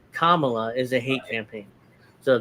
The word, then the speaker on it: Kamala: mispronounce their name but I'm guessing Kamala is the right way to pronounce it not Kamala it's a hate campaign